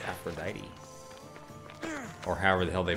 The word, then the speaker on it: Aphrodite: Oh, it's Aphrodite. Or however the hell they pronounce it in for real.